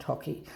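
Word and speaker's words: hake: The most important is the hockey brush, H-A-K-E, pronounced hockey.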